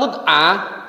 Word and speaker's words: mut'ah: Nih, kemudian pernikahan kontroversial yang kedua adalah mut'ah. Bukan mu'tah tadi ya, mut'ah, walik bacanya.